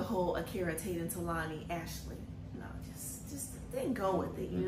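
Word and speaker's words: Ashalee: So Ashley. So it's kind of like a fancy way of saying Ashley.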